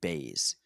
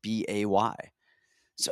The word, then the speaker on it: Buys: __ ] isn't it it's spelled b-u-y-s and everybody calls them jp bays i'm like you guys i get b-u-y-s like that is buys if i go to